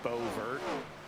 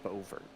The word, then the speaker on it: Beauvert: But despite his French-sounding name, apparently it's pronounced Beauvert, like a bow and vert. Okay. That I remember the team owner of his team mentioned it on chat once. Yeah, so apparently it's Beauvert.